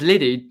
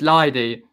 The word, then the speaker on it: Leidy: I think everyone says Liddy. I don't know. It's Leidy.